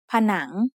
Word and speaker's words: ผนัง: The syllable has a live ending, so it is said with a rising tone. ผนัง Something similar happens in the word ขนม which means snack.